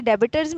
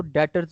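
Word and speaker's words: debtors: ये डेबिटर्स जो आप कह रही हैं ना, ये नहीं होता, इसमें बी को हम साइलेंट कर देते होते हैं, तो ये डेटर हमारा पड़ा जाता है, ठीक है।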